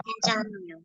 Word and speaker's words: 괜찮아요: 괜찮아요. 괜찮아요. Kira-kira ini diucapkan kapan ya, Rabun?